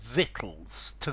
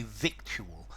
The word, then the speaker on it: victual: v t l e notice the pronunciation vit to vit um I have heard people say victual but I think the proper pronunciation is vitt vitt okay vittles are food